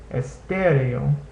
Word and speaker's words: estéreo: So here this word is estéreo, which means stereo. Estéreo. Notice that in this A-O diphthong you hear both vowel sounds.